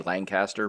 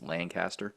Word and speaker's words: Lancaster: You know, that's I like when they throw Lancaster up there because there I I have always thrown a G in that word. I don't know why. I always say Lancaster, but it's Lancaster.